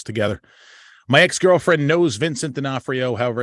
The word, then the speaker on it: D'Onofrio: both of us together my ex-girlfriend knows Vincent D'Onofrio however it's spelled you actually you nailed it right you